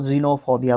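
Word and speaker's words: xenophobia: of foreigners उस को जेनोफोबिया बोलेंगे भाई साहब एक्स को ज प्रोनाउंस किया जाता है ज आधा ज ठीक है जेनोफोबिया जेनोफोबिया फोबिया मतलब डर ठीक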